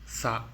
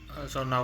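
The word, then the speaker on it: ث: இது தா கிடையாது. சா அப்படின்னு சொல்லிட்டு சா சான்னு சொல்லுவாங்க. ஆக்சுவலா இது தாவும் கிடையாது சாவும் கிடையாது. இதோடைய உச்சரிப்பு வந்து கொஞ்சம் டிஃபரண்டா இருக்கும். அது சா இதோட அதாவது சான்ற சவுண்டு இருக்கும். ஆனா அதோடைய உச்சரிப்பு அந்த ஒளி அந்த ஒளி வந்து வேறுபாடு இருக்கும். நார்மலா சா அப்படின்னு சொல்றதுக்கும் சா அப்படின்னு சொல்றதுக்கும் வித்தியாசம் இருக்கு.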